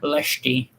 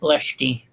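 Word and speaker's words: Leste: is me being pedantic is from timor leshke is so i know it's you know that l-e-s-t-e it's leshty timur oh okay okay yeah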